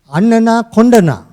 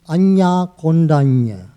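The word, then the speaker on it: Añña Koṇḍañña: I said, you were pronouncing the greatest monk, the very first monk name wrong. What is it? It's Anya Kondanya.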